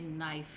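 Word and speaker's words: knife: कुछ वर्ड्स हैं जो साइलेंट लेटर के साथ हैं, जैसे नाइफ है, नाइफ, इसमें के आता है लेकिन के साइलेंट है, के को हम प्रोनाउंस नहीं करते, ठीक है। कनाइफ नहीं होता, नाइफ, नाइफ।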